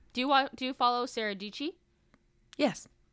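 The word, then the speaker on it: Dietschy: And I know like do you follow Sarah Dici? Yes. Oh, so Rhymes with I know Peachy.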